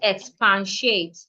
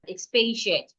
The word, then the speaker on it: expatiate: We have expatiate not expansiate. Expay. There is no pan in that word. Expatiate.